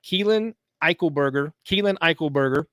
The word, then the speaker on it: Eichelberger: So in our Sunstar Rising Star of the Week, we've got Keelan Eichelberger, and we're about to bring him on here.